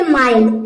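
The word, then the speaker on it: mild: उसी तरह से यहाँ पे देखिए माइल्ड, LD आया है, आई के बाद LD आया है तो ये हो जाएगा माइल्ड, माइल्ड मीन्स होता है नर्म।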